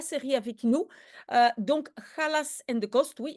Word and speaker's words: Challas: avec nous euh donc Khas and the cost oui et maintenant je sais on doit prononcer Khas il y a plusieurs